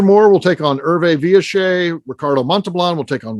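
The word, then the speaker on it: Villechaize: The next one, I think most people say Hervé Villachez, but I believe he pronounced it Hervé Villachez. He was French, of course, so say it however you want.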